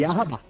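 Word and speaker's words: Yhwach: porque agora o Aizen pronunciou o nome dele, então agora é só copiar. Porque o Aizen falou, tá, é só copiar. Tá, mas- Yahabá.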